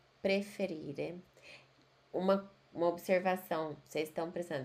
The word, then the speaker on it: preferire: Preferire, preferire. Uma observação, vocês estão prestando atenção que eu falo preferire, todos os verbos terminam em E e tem que falar a letra E.